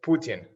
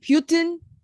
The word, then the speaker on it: Putin: how do you say how do you say putin with a with a russian putin oh it's not like putin it's putin yeah it's very important i